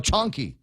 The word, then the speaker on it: chonky: Chonky. Oh, rhymes with honky.